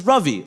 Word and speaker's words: Ravi: My dad's is, my name is Ravi, like ravioli.